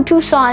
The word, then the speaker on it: Tucson: largest metropolitan areas in the country the metro tucson area also accounts for about 1 million people and yes it is pronounced tucson very interesting now owing to the